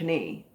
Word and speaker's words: knee: on your knee but the k might trip you up unless you remember it's your knee and don't pronounce it knee but knee all right enough of